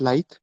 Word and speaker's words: lithe: Okay, it's pronounced lithe, which means moving easily and gracefully, which simply means being flexible. Okay, the last word for today is lithe, which means being flexible.